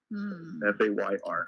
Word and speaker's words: Fayr: And yeah, it's spelled again Fayr. The acronym stands. Obviously, it's about being fair, but family advocacy is your responsibility. Fayr.